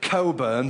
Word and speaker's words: Cockburn: butcher, baker, carpenter, and cockburn. Of course, they insist on pronouncing it coburn, but we know the truth.